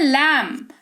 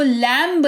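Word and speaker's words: lamb: फिर है लैम्ब। भेड़ का बच्चा जो है उसको लैम्ब नहीं लैम कहते हैं, क्योंकि लॉजिक इज सेम, बी का साइलेंट रूल।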